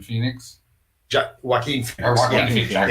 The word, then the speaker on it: Joaquin: Jacqueline Phoenix. Joaquin Phoenix.